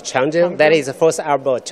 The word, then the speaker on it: Chang'e: You know, CV in Chinese pronounce is Chang'e.